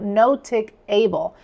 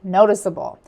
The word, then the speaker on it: noticeable: Removing the E would transform the word notice into notic, altering the pronunciation to notic able, which deviates from the intended noticeable.